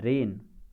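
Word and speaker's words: reign: फिर है रेन। रेन यानी होता है टू रूल, शासन करना, किसी पे शासन करना, इसमें जी साइलेंट है, ठीक है ना।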